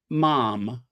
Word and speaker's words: ma'am: conventional formal address is your majesty and subsequently mom you know ma'am as in ham is not ma'am as in ham it's mom pronounced to rise with jam right not ma'am